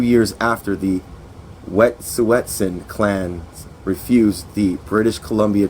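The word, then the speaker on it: Wet'suwet'en: repeatedly by the Canadian government to to criminalize wet suetsen people whose land Canada claims to be quote in the way of lucrative gas and oil pipelines.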